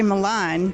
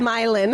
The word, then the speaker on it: Milan: say it wrong because I want to say Milan but it's not it's milin milin I can in my